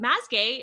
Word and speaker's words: Mazgay: excited to have, is it Mazgay? Is that how you say that? That's how you say it.